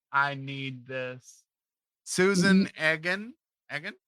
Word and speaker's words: Egan: Egggan, right?